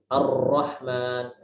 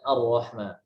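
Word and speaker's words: الرحمن: Jadi bukan Ar-Rahman, Ar-Rahman. Tapi kita bacanya dengan lebih ringan, Ar-Rahman.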